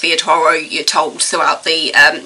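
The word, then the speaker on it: Villatoro: Toro pron it's spelled villain Toro but it's pronounced via Toro you're told throughout the um narrative the mispronunciation and the actual pronunciation via Toro he's investigated something that happened in La he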